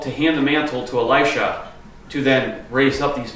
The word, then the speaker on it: Elisha: Jacob a light shot Elijah and Elisha right right he hands the mantle to Alicia Alicia who say it wrong um so that's